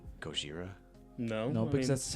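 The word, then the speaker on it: Gojira: wait wait wait is it racist to say goira no no because that's how it's it's said that is how it's pronounced um the if you're going to a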